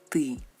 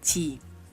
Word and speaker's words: ты: Tú, el pronombre tú, y en ruso es ты. Entonces, para poder pronunciar tú en ruso, tenemos que conseguir este sonido. Ты, ты, ты. No es ti.